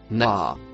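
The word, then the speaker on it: نهى: Le deuxième mot, violet, se prononce, naa.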